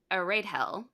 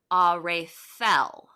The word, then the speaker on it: Aredhel: it's a TH noise. Oh, I was close. You were clear Of close. So in my it's head, the before I knew that, I was pronouncing it Aredhel, uh-huh. but it's supposed to be Arethel.